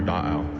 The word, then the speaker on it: Da'au: our creation story for Da'au, for Lake Tahoe. So Lake Tahoe itself, the word Tahoe, is a mispronunciation of our word Da'au, which also means lake.